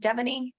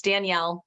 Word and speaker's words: Danelle: like that is that devony I don't want to say it wrong I apologize people butcher my name all the time and a bunch of you have asked me it's Danielle or you can call me